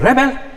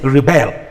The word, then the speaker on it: rebel: when i say please rebel when i say rebel this this it shifts to the second syllable to mean that i am asking to refuse please rebel against it to refuse it then the record this